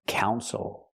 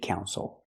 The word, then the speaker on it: council: for the city again not Council but Council the stress is on the first syllable the second syllable is not stressed so we don't say ill we say oh count the city council makes